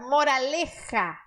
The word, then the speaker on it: moraleja: Isso faz o som do gato. Moraleja.